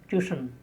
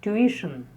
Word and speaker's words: tuition: It's very often wrongly pronounced as tuition. It's tuition.